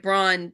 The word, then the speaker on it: Braun: they could vote for somebody other than Mike Braun. Is that his name, Mike? Am I saying it right? Yeah. For Mike Braun, so that we could get a less scary